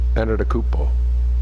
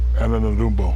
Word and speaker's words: Antetokounmpo: Antetokounmpo. Antetokounmpo.